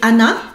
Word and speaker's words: Anna: En français, quand on va prononcer Anna, même s'il y a un double N, on va juste dire Anna.